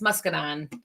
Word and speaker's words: muscadine: getting smaller me well that's actually how you spell it but um it's muscadine um so well you gotta space it out a little bit musine